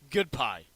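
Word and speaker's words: GPDI: Good pie is how it's pronounced by lots me.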